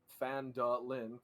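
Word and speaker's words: Phandalin: a human town of fen de lijn pronounced fan Lynn you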